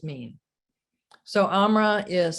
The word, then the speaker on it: AMRA: the letters mean so amra is spelled a-m-r-a and my understanding is that it's not a combination of those four letters but it's a combination of sounds am and raw and here's what the